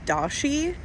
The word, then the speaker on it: Dauschy: The the um name is Dashi. It's kind of spelled like how a do how a Datson is spelled like the dog.